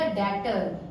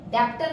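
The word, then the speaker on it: debtor: डेटर। डेप्टर नहीं है ये, बी साइलेंट होता है इसमें, इसे हम डेटर, और अगर बहुत सारे हैं तो डेटर्स।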